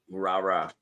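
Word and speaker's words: Rara: Rah-rah.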